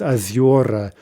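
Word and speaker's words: озёра: But look at ozera becomes aziora, right? So you see that it's shifted in the direction we would expect, but it's not always clear what syllable the stress ends up on.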